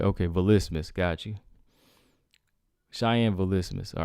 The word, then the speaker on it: Vlismas: ballistas got you cheyenne volismus all right gotta get used to that used to calling her cheyenne byes or beys i mean we we pronouncing that wrong cheyenne base so cheyenne velismus all right got that